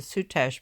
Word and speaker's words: Soutache: The design is made from, I guess you pronounce it Soutache braid with a little bit of embroidery in between.